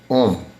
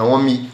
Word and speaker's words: ohm: a última letra do alfabeto grego, e é pronunciada om. Om, não é omi não, tá? É om mesmo.